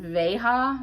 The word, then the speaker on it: Veja: Next up, I think you pronounce this brand Veja.